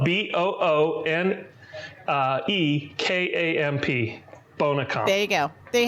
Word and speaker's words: Boonekamp: And in Germany, the Bonekamp, this thing kind of like Jägermeister, has one